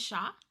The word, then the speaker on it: chat: Yeah, I don't think you don't pronounce the T. Isn't it Shaw?